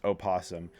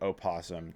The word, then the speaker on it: opossum: The North America, like the North American opossum, it's pronounced opasum. There's possums in Australia. They're not the same thing. You pronounce it opossum technically.